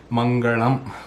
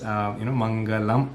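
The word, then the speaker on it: मङ्गलम्: So, that is something that you kind of throw in once in a while when you say Mangalam, for example. That is not the pronunciation that actually occurs. Mangalam is the pronunciation.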